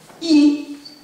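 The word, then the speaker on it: 易: Il s'écrit comme ça, et il se prononce Yi, c'est le Yi de Yi Qing, Qing voulant simplement dire livre classique, donc classique des changements.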